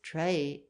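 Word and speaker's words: trait: but there is surely no reason by such words as trey t r a i t and vaz should not be pronounced after the english fashion and we might well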